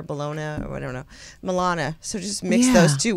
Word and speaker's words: Melania: So did you hear that him and Mel, pronounce it's not Melanie, is it? His wife? Hey, wait. What's his wife's name? Oh, Mel. Wait, she's so pretty. It's a different country. Melania?